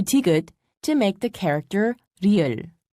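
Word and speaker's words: 리을: to make the character real real is a sound made by softly rolling your tongue listen carefully la dia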